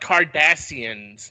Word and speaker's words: Cardassians: I think it's pronounced Cardassians. Not It is. I always say it Kardashians.